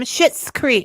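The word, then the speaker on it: Schitt's Creek: it's you say it it's the name but it's spelled differently so it's um shitz Creek I'll say it so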